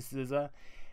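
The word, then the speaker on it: SZA: hitting Sousa if you have not gotten to Sousa SVA is the how you spell it and it is an amazing album it's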